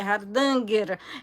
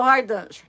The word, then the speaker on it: Hardanger: nome de hardanger né que a pronúncia correta é hardanger e a gente né a brasileira porque a língua já não enrola tanto então virou hardanger e você pode bordar